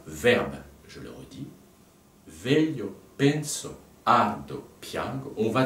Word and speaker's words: veglio: Fa dièse, La, Ré, veglio. Voilà. Veglio. Je rappelle qu'en italien, le G-L-I se prononce lieu.